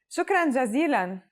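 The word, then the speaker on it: شكرا جزيلا: very much you just need to add jazeelan shukran jazeelan shukran jazeelan shukran is a formal way of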